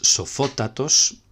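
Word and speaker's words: σοφώτατος: En cuanto al superlativo, veremos que es sofótatos. Vemos que aquí se vuelve a cumplir la norma, sofótatos con acento en la misma sílaba que sofós y mismo tipo de acento.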